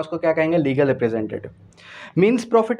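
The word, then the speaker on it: mesne: मींस profit, अक्सर इसको मेसनी profit कहा जाता है। मींस प्रॉफिट क्या होता है, मैं इसने प्रॉफिट में लिख रहा हूँ लेकिन इसकी करेक्ट प्रोनाउंसिएशन जो है वो मींस प्रॉफिट है।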